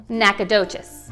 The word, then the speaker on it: Nacogdoches: Okay, so the next word you'll commonly hear from people like me called Nacogdoches, however, it's pronounced NACA Duchesse.